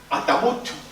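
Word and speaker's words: التابوت: el artículo a yaut que en el árabe hispánico se pronuncia at tabut y se castellanización de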